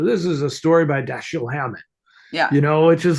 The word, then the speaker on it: Dashiell: because it's when his daughter tells you, it's pronounced Dashiell, it's not Dashiell.